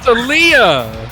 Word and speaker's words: Aaliyah: It's Aaliyah. Aaliyah, I should have guessed it that. I couldn't even get the name pronounced, but thank you guys for correcting after so long.